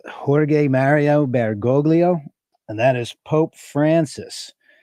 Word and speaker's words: Jorge Mario Bergoglio: Okay, I believe his name is pronounced Jorge Mario Bergoglio, and that is Pope Francis.